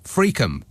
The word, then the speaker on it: Friockheim: in Plymouth says uh friockheim in Angus is pronounced fream if you if if